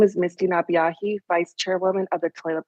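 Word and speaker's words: Napeahi: members of the subcommittee my name is misty nabiahi vice chairwoman of the toilet tribes i want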